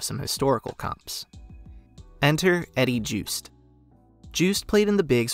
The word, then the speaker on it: Joost: and Eddie Yost now the name juiced is of Dutch origin and in that language would be pronounced Yoast the fact that two